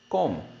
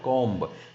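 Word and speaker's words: comb: इट्स अ कॉम, नॉट अ कॉम्ब.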